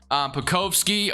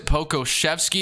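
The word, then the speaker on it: Pokuševski: Pokovsky, or however you say, Pokoshevsky is I think how you say his name.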